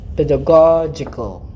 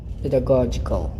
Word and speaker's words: pedagogical: one is actually the pedagogical pedagogical all right so the first g is hard the second g is